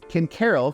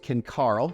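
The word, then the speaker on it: Ken Caryl: Ken Carroll can also be pronounced Ken Carl, depending on who you're talking to and if there's somebody that's lived in the area for a long time.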